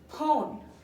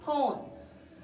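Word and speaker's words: phone: potato মানে হচ্ছে আলু ফোন পি এইচ ও এন ই ফোন এখানে দেখুন পি আর এইচ মিলে কি ফ এর উচ্চারণ হয়েছে ফোন ফোন মানে হচ্ছে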